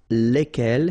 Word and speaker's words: lesquels: And the good news is that phonetically, it's lesquels here for the masculine form and then lesquels for the feminine form, all right? So phonetically, it's exactly the same when we talk about the plural form here, but then if